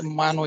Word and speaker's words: Mano: Pronunciation spelled like m o n o mono but mano mano m a n o mano mano manuo you're